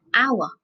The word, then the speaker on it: hour: which is a consonant but in this word H this silent so we don't say how I would say our which has got our